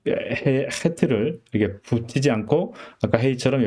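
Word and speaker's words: חית: 둘 다 목에서 나는 소리이긴 하지만 이 해트는 해트, 목 깊은 데서 나는 해트고 우리 음가로는 사실 히읗 발음으로 하지만 사실 정확히 표현은 안 됩니다.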